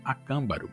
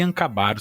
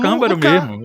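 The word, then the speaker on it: Acámbaro: Eu passei a vida toda me chamando de Ancabaro. Sabe aquelas pronúncias que você tem desde da adolescência, desde criança? Mas aqui na minha colinha aqui tá a Câmbaro que tem um acento no Câmbaro mesmo.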